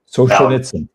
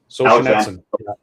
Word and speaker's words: Solzhenitsyn: Solzhenitsyn. Solzhenitsyn.